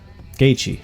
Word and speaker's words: Gaethje: But Gaethje, that's how you're supposed to pronounce it.